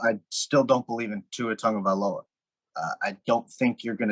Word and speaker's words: Tua Tagovailoa: But I still don't believe in Tua Tagovailoa.